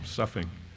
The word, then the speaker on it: sough: Does S-O-U-G-H rhyme with bow or buff? He used the word in that poem, suffing. I said the former, he said the latter. Since both are acceptable pronunciations, that match was the